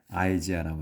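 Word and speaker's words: Isaiah: 이사야 이제 우리는 이사야라고 하는데 영어로 이제 할 때는 아이지아라고 합니다.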